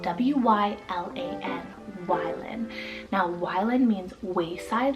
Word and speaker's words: Wylan: It's the name Wylan, spelled W-Y-L-A-N.